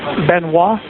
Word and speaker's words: Benoit: what's his name uh Chris benois it's spelled be n oit t okay and he's a